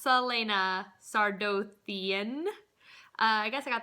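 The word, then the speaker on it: Celaena Sardothien: And the first book, Throne of Glass, follows our main character, Selena Sardian, which apparently I've been saying all of these names so incredibly wrong.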